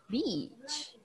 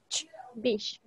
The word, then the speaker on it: beach: this word pronunciation okay beach bb it's a long sound beach b b c h sounds like bish one more time there